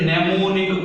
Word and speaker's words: mnemonic: call it as a mnemonic codes. Remember, this M is silent. Mnemonic codes.